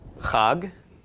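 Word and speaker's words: חג: gimel so we have the huh of the hate the off of the comments and the good of the gimel altogether is pronounced hog and hog is a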